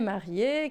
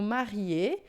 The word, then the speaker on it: marié: Observa que aqui a gente tem o marié, que é só assim, ó, marié quando é o masculino, e marié com mais um E, né? Que não muda na pronúncia, mas a gente acrescenta na escrita, tá?